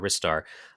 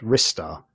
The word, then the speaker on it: Ristar: On that video even people sending comments saying it's pronounced wristar.